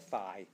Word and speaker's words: phi: it turns out that you can pronounce it, I guess both ways in the States are acceptable, but most people coming from like the British tradition will tend to call it phi.